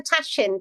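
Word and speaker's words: tahchin: if I pronounced that it's a tashin tashin which means I think t a c h i n so it's um it's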